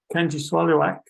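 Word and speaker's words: Kangiqsualujjuaq: One of the young people I taught there said the only way a southerner could get close to how the name should be pronounced is to say, "Can you swallow a truck?"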